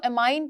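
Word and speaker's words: amine: तो आपने इसके साथ एमीन्स लगा देने। इसको एमाइन पढ़ लें, एमीन पढ़ लें, एक ही बात है, ठीक है।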